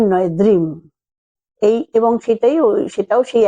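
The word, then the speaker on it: Dream: মনে জানবেন ড্রিম ডি আর double M কিন্তু উচ্চারণে বলতে হবে কিন্তু দ্রিম ড্রিম নয় দ্রিম এই এবং সেটাই সেটাও সেই একইভাবে কাচের গ্লাসে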